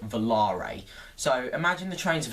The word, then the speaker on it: Volare: a zampala velarae coaster a lot of people call them velar coasters however a member of sns has no not sns a member of zampella has announced that it is actually pronounced volare so imagine the trains